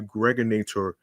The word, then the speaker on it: Gregonator: This is your man and homie, aka the Gregonator. Rhymes with now or later.